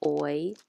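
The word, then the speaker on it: hoy: spanish at the top so the blue h is silent of course all the ages are silent in spanish and you say oy es for today is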